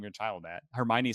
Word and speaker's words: Hermione: that I really read and I remember I mispronounced Hermione in my mind right I thought it was like Herm Moine or I was like what a weird name I why would you name your child that Hermione sounds a lot prettier than Herm Moine but